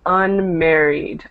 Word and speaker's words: unmarried: I said to Antonio so when you have an e at the end here it should be unmarried unmarried unmarried okay okay perfect so you don't add an extra syllable there it just goes on to the last syllable so we have unmarried